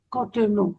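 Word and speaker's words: Cotonou: Cotton.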